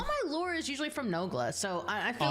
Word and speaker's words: Nogla: I think I said Nogula or Nogla, Nogula, Nogluglu, or something like that. He's like, "It's Nogla, Nogla, Noglugglug."